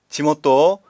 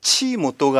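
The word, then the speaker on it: 地元: 지모토, 자, 이건 발음 조심해야죠. 치모토가 아니라 지모토입니다.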